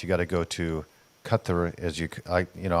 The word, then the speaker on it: Qatar: got to go to Kut as you I you know I've gone back and forth in the pronunciation Qatar cut I like the way you say it best I think you're more